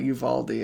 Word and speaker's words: Uvalde: said that right uvalde i think it's uvalde pronounced spanish style i think some people in texas i'm there they call it uvaldi i don't know i